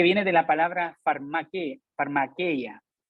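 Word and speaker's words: φαρμακεία: de la palabra farmaque farmaqueya por esta vez voy a pronunciar el griego farmaqueya de allí viene la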